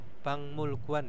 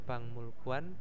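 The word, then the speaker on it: 박물관: Gelam had gualam had Bang mulguan ya bukan bang bang pakai Eng ya Jadi ada Giok bertemu dengan miem maka gioknya itu berubah menjadi Eng ya Bang mulguan jadi bacanya bank mulguan b muluanel kualam terus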